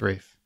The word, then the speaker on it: Ralph: He's Rafe. But he pronounced He will Rafe. punch you in the eye if you call him Ralph.